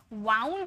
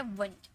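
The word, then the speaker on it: wound: जो ओ यू है लेकिन इसे वाउंड मत पढ़िए कभी भी इसे वाउंड मत पढ़िए ये है वंड वंड मतलब घाव इसे वंड में पढ़ते हैं ठीक है तो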